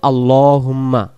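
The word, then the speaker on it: اللَّهُمَّ: এটা হলো আল্লাহুম্মা। আল্লাহ শব্দের ডান দিকে যখন জবর হয়, আল্লাহ শব্দের লামটাকে ল এমন করে পড়তে হবে।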